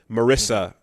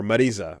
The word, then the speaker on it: Marisa: Marissa plays that role in this game because or Marisa as she's pronounced.